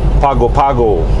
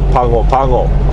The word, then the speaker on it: Pago Pago: I'm beginning to think of Pago Pago, American Samoa. It's spelled P-A-G-O, P-A-G-O. It's so nice they named it twice. Haha. But I think the local pronounces it Pango Pango.